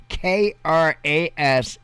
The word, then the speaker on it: Krasnoyarsk: It's Krasnoyarsk.